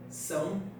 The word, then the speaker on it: São: The sound, it's SAO, but it's pronounced sound. Paulo? São Sound.